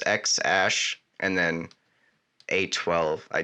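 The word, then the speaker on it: X Æ: and his squished yeah it's pronounced like ash so that that symbol is a Sparrow's ash so it's X ash and then a twelve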